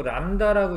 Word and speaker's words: 람다: 안 틀리는 거거든요 자 파장은 보통 이렇게 쓰고 람다라고 읽어요 람다라고 있습니다 이런 식으로